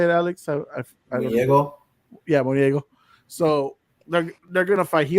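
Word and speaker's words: Munguía: Yeah, Moniego.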